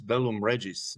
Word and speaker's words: Bellum Regiis: is really, really evident with your latest album, Bellum Regiis. Is that how you say it? It's Bellum Regiis.